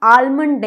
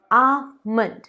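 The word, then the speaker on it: almond: आमंड, इसे हम आलमंड नहीं कहते हैं, गलत है, आमंड।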